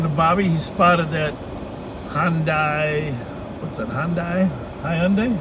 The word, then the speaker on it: Hyundai: going to work well looks like they think it's two syllables right just like i said hyundai yeah i think you're